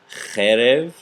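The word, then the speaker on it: חרב: Okay, we have cherev, cherev, another segolet noun, cherev, and this is sword. But when we go to the plural, it reduces. So we have charavot. I should say the first syllable reduces, the second one elongates.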